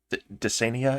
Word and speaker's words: Dysania: Dysania, it's pronounced. Dysania. It's not really. Dysania. Yeah. Okay, thank you.